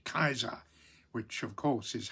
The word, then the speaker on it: Caesar: But in ancient Rome, that would have been Julius Caesar with a hard C, Caesar, which of course is how it um has lasted in places like Germany and and Russia.